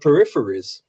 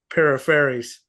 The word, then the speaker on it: Peripheries: Okay, how do you pronounce your band name exactly? The Peripheries.